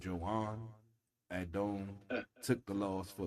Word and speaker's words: Joan: It's spelled Joan like Joan, but he's Spanish, so I guess it's Joan.